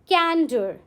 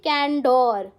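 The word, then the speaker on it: candor: Our next word is कैंडर. Okay, how डू वी से कैंडर. We don't say कैंडोर. कैंडोर नहीं कहते हो इसको. जैसे वर्ड है उसको ब्रेक करके पढ़ो. It's like कैंडर. कैंडर ऐसे बोलो.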